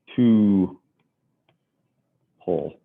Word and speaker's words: tuple: me write that down pronounced two whole right a tuple is